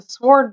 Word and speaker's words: sword: We should contact the sword bearer. And I know, you don't pronounce the W in sword.